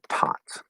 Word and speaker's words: taught: There's no T there, and taught. Taught. Okay. The difference. The OUGH and AUGH spelling patterns. These are kind of 2 ways to write the same thing, more or less.